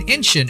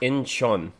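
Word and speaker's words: Incheon: One of their biggest breaks was at K-pop festival in Inshin in 2014. Their whole stay and Uncle Chuck, it's it's pronounced Inchon. I I'm I'm not being an a-hole. I'm just saying it's Inchon.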